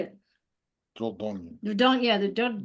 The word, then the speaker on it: Dordogne: Dordogne.